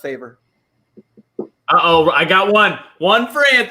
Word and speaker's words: Favre: would rather date brett favre oh she's trying to answer the movie question got it uh it's pronounced favor oh i got one